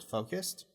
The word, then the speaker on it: focused: uh similar to an S anyways that's the pronunciation of the word focused I stay focused by minimizing distractions uh by minimizing there is